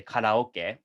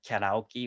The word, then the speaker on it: karaoke: time karaoke you know japanese people say karaoke but i think i had american people pronounce it karaoke or something like that but anyway it's kind